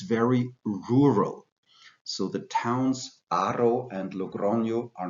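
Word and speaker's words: Haro: capital the important towns of Rioja are called Arrow the age is not pronounced therefore arrow and the second one is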